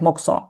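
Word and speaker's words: 黙想: If to spell it, it's like mokuso. It's yeah, it's spelling like that, but we pronounce it like mokso.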